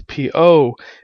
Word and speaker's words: Baofeng: The cheapest of them being the Baofeng, or Pofeng. Baofeng apparently is supposed to be pronounced as Pofung. The company's actually changed the name so that us Americans pronounce it the right way.